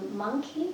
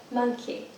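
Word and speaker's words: Monki: Monkey, have you ever been there? No. You love it. Monkey. Yeah, it's spelled M-O-N-K-I.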